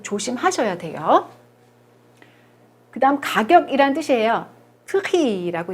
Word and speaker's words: prix: 프리라고 있고요. 요거 발음하지 않아요. 끝에라서 또.